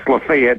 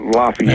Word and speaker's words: Lafayette: rivalry and in Oxford that's pretty good with Lefayet County. Yes, Lefayet, not Lafayette. That's right. That's right. I know they just don't pronounce it correctly.